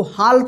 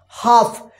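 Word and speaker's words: half: इसको क्या पढ़ेंगे हाफ इसको हाल्फ मत पढ़िए हाफ अगर इस तरह से आपको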